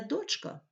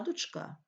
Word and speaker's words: дочка: потрібно говорити 11-14 см не дочка а дочка не дрова а дрова правильно